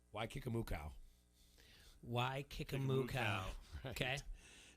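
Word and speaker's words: Waikikamukau: uh number six is it looks like a hawaiian island name but it's pronounced wai kikamukau why kikamu okay it's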